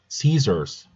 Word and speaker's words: Caesars: Caesars. É, tem dois S's, mas é um som mais próximo de um S, um de Z, né?